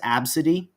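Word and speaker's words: ABCDE: AB CDE e it's it's pink but it's pronounced absidy they have really really good live resin products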